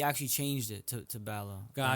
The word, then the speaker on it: Ballo: Balo. Am I pronouncing your last name correctly? Yes. Balo.